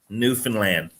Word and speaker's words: Newfoundland: you pronounce it it's new as in like a new item new finn as a fish fin and then lan without the d newfoundland new finland newfoundland yeah